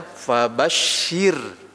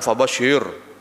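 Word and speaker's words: فبشر: sebelumnya adalah apa kasrah maka dia bacanya fabasyir jangan fabasir ahah Jangan gitu ya fabasyir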